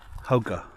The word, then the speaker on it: Hogan: the Navajo Community is called a hoga uh it's looks like it's spelled Hogan but that is a